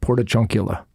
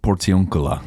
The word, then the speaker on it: Portiuncula: Portachuncula. Portachuca. What is it called? The port. Portiuncula. That one. Portachuncula. What is No, this? not chunk. Their chunk is not in the name.